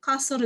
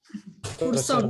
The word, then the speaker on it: カーソル: Kenapa ada kata-kata kasur ga ugokanai? Kasur wa nan desu ka? Kasur wa buat tidur. Kursor desu ne. Kan kasur ya, kursor ya, kasur desu ne.